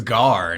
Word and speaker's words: Garoppolo: game um I mean his name is gar not ger anyway girl it's not g r Apollo it's g-a yeah the point is